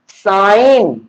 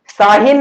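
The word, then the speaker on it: sine: साइन theta, साइन, साइन, साहिन नहीं, साइन, ठीक है।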